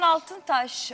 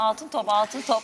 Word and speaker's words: Altıntop: Burhan Altıntaş. Altıntaş mı? Altın top. Benim ismim Burhan Altıntop. Niye yanlış telaffuz ediyorsun acaba? Ay unuttum ayol. Koskoca idare müdürün Nişantaşı çocuğu Burhan Altıntop'a Burhan Altıntaş değil.